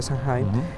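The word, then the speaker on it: Samhain: con esta fiesta de de sawing que es como se pronuncia sanim este que e implica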